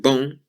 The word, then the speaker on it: bon: So normally the word bon is pronounced with a nasal sound on the end. Bon. As I said, if you say the word bong and take the G off, that's how you say bon.